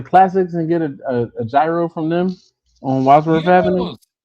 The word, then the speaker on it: gyro: Yeah, the Y is gyro. The G is silent. The G is silent basically.